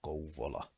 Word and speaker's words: Kouvola: is pronounced as sauva with a long V sound, and also the word vauva and the name of Kouvola.